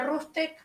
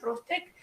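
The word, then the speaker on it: RootsTech: Entonces prueben las herramientas y luego, sí, ya viene Rustec, para quienes se quieran apuntar, es algo que organiza Family Search, se escribe R-O-O-T-S-T-S-H, Rustec.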